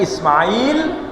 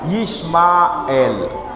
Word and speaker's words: Ismail: Kita menyebutnya Ismail, anaknya Ibrahim. Sementara non-muslim menyebutnya bukan Ismail tapi Yismael. Ya, Yismael. Jadi orangnya sama tapi beda cara pelafalan.